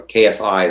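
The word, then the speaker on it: xi: But people are also saying that it has a KS sound. So KSI would be the how you pronounce. Because Zai, I think it's Zai, Zus.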